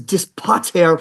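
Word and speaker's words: Dispater: devil care name desp actually the proper the original proper pron is dispat it's another it's it's a Latin name for Pluto god of the underworld but the name was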